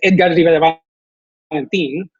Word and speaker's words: Edgard Rivera-Valentin: if I'm meeting people, I don't say my name is Edgard Rivera-Valentin. It's Edgard Rivera-Valentin. I will say it with the right pronunciation and accent. And then I'll be like, for you, you can say, that's fine. But you're gonna hear the actual Spanish pronunciation of this.